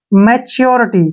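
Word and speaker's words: maturity: उच्चारण च होता है अब यहां पर यू का उच्चारण हम यू करेंगे ऐसे और आर का उच्चारण रे करेंगे और आई का जो उच्चारण है वो ई के रूप में करते हैं और टी को ट पढ़ेंगे और वाई का उच्चारण ई की मात्रा हो जाएगा मैच्योरिटी क्या पढ़ेंगे इसको मैच्योरिटी मैच्योरिटी होता है बालिग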